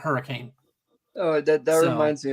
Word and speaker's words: Hurricane: You got a little town, and it's spelled HURRICANE, which you would normally pronounce hurricane. Yeah. You do not pronounce it hurricane in West Virginia.